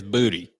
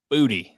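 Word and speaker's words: Boutte: pronounce it for you he has made it clear it is booty it is booty so uh so Keyshawn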